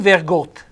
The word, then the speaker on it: vergot: Dammi vergot, dammi vergot, dammi qualcosa. Vergot, accento chiuso, vedete, accento fonico chiuso.